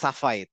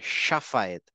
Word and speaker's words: শাফায়েত: হ্যাঁ তো ওই শাফা আমরা কিন্তু বলবো না সাফায়েত সাফায়েত না শাফায়েত তারপর হচ্ছে শাহিদান হ্যাঁ ওয়াশুহাদা